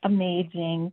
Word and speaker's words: Amaging: How do you pronounce that? Amaging. Amaging. Oh, just like amazing.